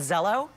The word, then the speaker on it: Zello: THIS ONE IS CALLED ZELLO. YES, RHYMES WITH HELLO, EASY TO REMEMBER.